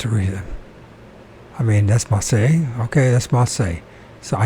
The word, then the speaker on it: Marseille: Marcellus? Oh, don't make me do this. Marseille? Is that how you pronounce it? Marseille, but you can say Marseille. Marseille. The typical French pronunciation, Marseille.